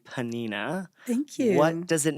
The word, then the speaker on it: Pnina: they had to translate it to Hebrew to panina yeah panina amazing and it became a worldwide